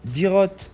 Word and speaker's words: Dyrroth: C'est-à-dire Dirot, c'est comme ça que ça se prononce.